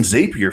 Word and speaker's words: Zapier: up but uh using zapier for that man it was cool it was so easy yeah and remember the pronunciation zapier zapier zapier they call it zapier zapier zappier makes you happier zapier makes you happier